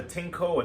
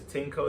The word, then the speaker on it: Tineco: for this model inside the tinko a Tango I believe it's tinko the way it's spelled t-i-n-e uh c-o um and then then a company could also mean tinico anyway you get it